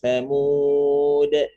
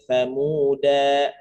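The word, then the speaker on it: ثمود: Ya berhentinya ala inna thamud. Nah, gitu. Jadi bukan dibaca ala inna thamuda, tapi dibacanya ala inna thamud.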